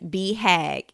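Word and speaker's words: BHAG: on page 103 it which stands is pronounced as be hag it should be clear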